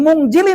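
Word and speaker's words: مُنزِلِين: Sebab ada nun mati ke depannya ada huruf apa? Huruf huruf kuat-kuat apa? Salah pun kayak takut disetap aja. Huruf zai ataupun zi itu nama hukumnya adalah ikh ih ik ih ikhfa. Maka membacanya jadi mun.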